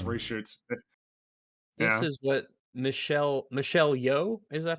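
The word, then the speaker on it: Michelle Yeoh: long then plus reshoots this is what michelle michelle yo is that how you pronounce it yes uh she said daniels i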